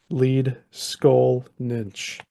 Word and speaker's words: Leedskalnin: NES the laian words usually place the accent on the first syllable and the NS ending